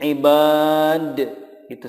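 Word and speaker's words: عبادي: Contoh berikutnya, ibadi. Di sini dipanjangkan ya di-nya, tidak dibaca pendek. Contoh ibadi atau menjadi ibad, itu salah. Tetapi yang betul cara membacanya adalah ibadi, ya-nya sudah disukunkan.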